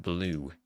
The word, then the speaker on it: BLVE: And BLVE, pronounced blue.